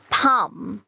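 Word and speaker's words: palm: এটা কিন্তু সাইলেন্ট হয় next word P এ এল এম সো আপনারা সবাই এবার এটা প্রোনাউন্স করার ট্রাই করেন তো আমরা এলটাকে সাইলেন্ট করে এটাকে কি প্রোনাউন্স করতে পারি রাইট ফার্ম ফার্ম এক্স্যাক্টলি এখানেও এলটা সাইলেন্ট হয়ে যাচ্ছে এবার আমি একটা মজার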